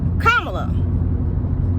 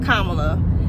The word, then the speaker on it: Kamala: little dad yoke but he says Kamala so it's not that that's not how you say her name she and her mother whomever else pronounces pronounces it kamla and I am of